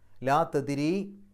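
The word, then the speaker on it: لا تدري: പോലെ പാരായണം ചെയ്തു പോവുക ലാ തദിരി ദാലിന് സുക്കൂന് കൽക്കലത്തിന്റെ അക്ഷരമാണ് എടുത്തു പറയണം ലാ തദ്ദിരി റാഇന് കസർ ആയതുകൊണ്ട് രി എന്നുള്ള ഉച്ചാരണം കൊടുക്കുക ലളല്ലാഹ്ദി സാലിക്ക അംറൻ അംറൻ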